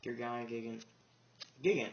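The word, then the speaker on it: Gogogo Gigant: Gurgaya Gigant, that's how it's pronounced.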